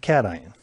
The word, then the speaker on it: cation: and that's called a cation i know looks like cash in but we pronounce it cation and to help you